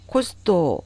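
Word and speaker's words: コスト: 헤매다, 그리고 코스토, 이것은 영어 코스트에 해당되는 이 단어를 일본인들이 가타카나로 코스토라고 삼음절어로 발음을 합니다.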